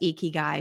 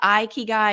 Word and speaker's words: ikigai: also checked out the audiobook the author says eeky guy but other people have a different pronunciation so yes we're going to go guy if you say iy guy you're still welcome to listen and we would